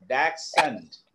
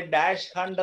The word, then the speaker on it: dachshund: രണ്ട് എച്ച് ഇല്ലെന്ന് വിചാരിച്ച് പറഞ്ഞ ഡാക്സെന്റ്, ഡാക്സെന്റ്. ആഹാ, അല്ലാതെ അതിനെ ഡാഷ് ഹണ്ട് എന്ന് പറയരുത്. നമ്മൾ അങ്ങനെ പറയുന്നേ. അപ്പൊ അതിന് ചെയ്യാനുള്ള എന്താണ്, രണ്ട് എച്ച് ഇല്ലാതെ അങ്ങ് പറയുക.